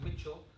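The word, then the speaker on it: Mischel: water Mitchell it's spelled to Michele but it's pronounced Mitchell and it's a very famous one called the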